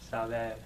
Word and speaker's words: saber: To know is Saber. Saber. saber. This is a B. It's a B. Saber. Saber. This is a B. So you're not going to pronounce a V.